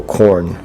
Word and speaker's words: Khorne: It sounds like the vegetable corn, but it's spelled differently. Uh k h o r n e.